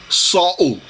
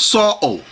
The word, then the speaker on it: Saul: brother is talking about when you say Saul it's flat it's not s the proper pronunciation and articulation with your mouth is supposed to be Sal you see how that have that bounce to it Sal it's not s or Paul it's it's it's flat it has nothing it